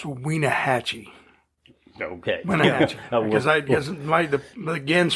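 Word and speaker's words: Wenatchee: And I believe it's pronounced Wienahatchee.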